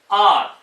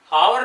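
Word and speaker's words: hour: Some extra में देखिए R, इसको हम पढ़ेंगे R, हावर नहीं पढ़ेंगे, H साइलेंट है यहां पे R।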